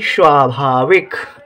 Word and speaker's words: स्वाभाविक: सुनिए स्वाभाविक स्वा स्वा जब किसी अक्षर का उच्चारण कम देर के लिए होता है तो उस अक्षर को आधा माना जाता है तो यहां पर आधा सा रहेगा क्योंकि सा सा सावा सवा नहीं पढ़ा जा रहा है स्वाभाविक नहीं पढ़ा जा रहा है स्वाभाविक पढ़ा जा रहा है सा का उच्चारण कम देर के लिए हो रहा है तो उसे आधा लिखेंगे आधे रूप में आधा